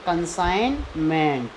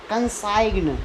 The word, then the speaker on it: consignment: अब ये CONSIGNMENT, देखो जी के ठीक बाद एन आ गया तो इसमें क्या होगा? जी साइलेंट रहेगा, तो इसे क्या पढ़ते हैं? कंसाइनमेंट। कंसाइग्न, गा का प्रोनाउंसिएशन कर दिया तो गलत हो जाएगा।